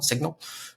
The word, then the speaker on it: cygn.al: Uh and so some people like Signal, but no, it's Signal spelled with a C.